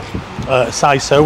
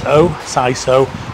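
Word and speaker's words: Seiso: Now, I was just going to come back here and next door, SISO, which is spelled S-E-I-S-O, SISO, which is the new place next to Looper, which is the old Pagan Whistle.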